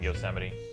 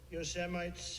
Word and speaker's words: Yosemite: quote but uh there's trump pronouncing yosemite seven lights towering sequoias when they gaze upon your semites yosemite's tower yeah your semites is the word that sounds about right pretty good really